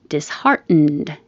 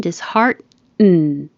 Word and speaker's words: disheartened: And you don't have to release the D. So if it's at the end of the sentence, you wouldn't hear it at all. It would sound like she was disheartened. If there was a vowel after it, you would release the D and then you would hear it.